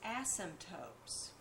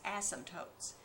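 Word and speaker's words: asymptote: here was the fact that this graph has ASM tootes you should learn to spell that word a ym p t o Tes ASM tootes now the y axis is called a vertical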